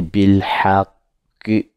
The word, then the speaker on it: بالحق: On ne dit pas al-sabri comme on a dit tout à l'heure bil haqq, parce que bil haqq, la lettre ha fait partie des lettres lunaires.